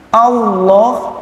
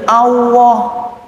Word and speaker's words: Allah: Kemudian juga sering sekali keliru ucapan Allah menjadi Allah pakai waw. Nah ini kadang-kadang saya juga dengar Allahu Akbar. Saya nggak tahu sejarahnya dari mana. Kok bisa lam lafzul jalalah kok jadi waw?